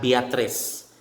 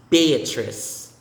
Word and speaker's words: Beatrice: joan beatrice beatrice beatrice not beatrice it's beatrice next isaac isaac isaac